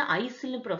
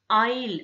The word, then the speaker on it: aisle: இப்போ AISLEன்னு இருக்கு, பட் இதை நம்ம வந்து ஐசில்னு சொல்லக்கூடாது, ஐல் அப்படின்னு சொல்லணும்.